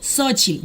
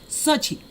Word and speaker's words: Xochitl: Xochitl, ya sé que se pronuncia así. Xochitl, besitos para ti, hasta México.